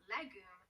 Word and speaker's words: legum: you lex legis legend the gem led ledges legume legibus ledges ready again listen as i decline